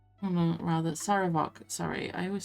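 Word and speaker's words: Sarevok: No, it's Savarok. Oh no, rather, Saravok. Sorry, I always say his name wrong.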